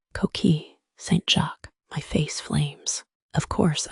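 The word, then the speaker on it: coquilles Saint-Jacques: It's pronounced Koki St. Jacqu, my face flames.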